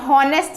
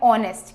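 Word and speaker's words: honest: अब देखो कई लोग इसे हॉनेस्ट भी पढ़ सकते हैं, बट हमें पता है कि इसका करेक्ट प्रोनाउंसिएशन क्या है, ऑनेस्ट। क्या बोला जाता है, ऑनेस्ट, दैट इज ईमानदार। तो स्टार्टिंग किससे हो रही है इसकी, ह से नहीं हो रही, किससे हो रही है, ओ से हो रही है।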